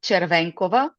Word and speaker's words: Chervenkova: The So the last name is pronounced Chervancova. So it's a Slavic name uh as I am located in Eastern Europe.